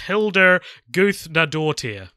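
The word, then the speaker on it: Hildur Guðnadóttir: was conducted by a woman her name is pronounced Hildur goose dad or tear there you go so it is not spelt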